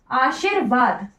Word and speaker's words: आशीर्वाद: होती है आशीर्वाद की व के ऊपर र आशीर्वाद जो ये किसी भी वर्ण के ऊपर र होता है उस वर्ण से पहले पढ़ा जाता है ये तभी आशीरवाद ठीक